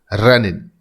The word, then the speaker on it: renin: यहां पर आपको बिल्कुल कंफ्यूज नहीं होना, ये स्पेलिंग है RENIN, रेनिन।